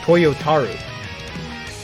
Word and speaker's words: Toyotaro: Toyotaro.